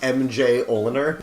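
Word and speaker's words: Mjolnir: the name of Thor's hammer yogurt it's actually pronounced MJ Ola nerd it was named after Jack Kirby's father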